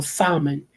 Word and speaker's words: salmon: who put a l the L is silent like knife okay like knife the K is silent so salmon the L is Sal